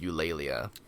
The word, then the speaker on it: Eulalia: the books so the the war cry the badgers is you layla and is that how you say it yeah per the per the author's words in the audiobooks you know so like